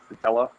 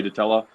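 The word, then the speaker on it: dtella: yeah i think you i think you pronounce the d it's not i think it's like it's not like a silent d i think it's the teller i don't know i'm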